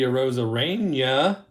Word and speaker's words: Arozarena: And here is Randy Arozarena. That's how I pronounce it.